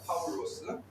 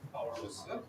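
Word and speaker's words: Παῦλος: 그렇게 보시면 되겠고 이제 바울은 뭐 영어로는 퍼울이라고 하죠. 그죠? 영어로는 파울이라고 하고 그다음에 이제 라틴어나 이런 쪽에서는 이제 파울루스라고 그렇게 발음하죠. 그다음에 이제 여기이 뜻이 헬라 우리가 신약 성경이 헬라오로스였으니까 헬라오로는 어 파울로스입니다.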